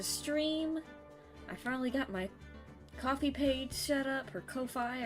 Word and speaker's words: Ko-fi: I finally got my coffee page set up her Kofi or it's pronounced I think it's coffee cuz it's like a pun whatever and then my